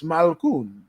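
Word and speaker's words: Malkoun: We even learn how to pronounce his name correctly. So it's Malkoon.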